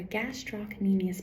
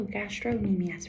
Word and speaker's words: gastrocnemius: our gastrocnemius muscles and you can hear me pronounce that c really clearly right gastrocnemius because sometimes people will shorten and be like Oh gastrocnemius right but then that kind of reminds you of something in your um a GI system right so be sure you pronounce the gastrocnemius part of it um and the scastrocnemius has